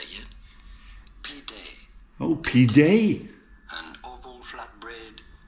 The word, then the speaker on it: pide: Google, what is pide in Turkish? P-I-D-E. Oh, this came up. We are looking at how to pronounce the name of this Turkish dish.